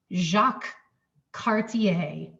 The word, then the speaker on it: Jacques Cartier: It's a French name, and French words are never pronounced how you think they're going to be pronounced. This is Jacques, Jacques Cartier.